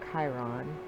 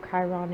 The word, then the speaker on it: Chiron: Or Chiron. Not for sure the actual correct way to say that. I've heard different readers say it different ways, Chiron and Chiron. I say Chiron.